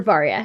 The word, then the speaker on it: Varia: Do you say Varia or Varia? How do you pronounce it?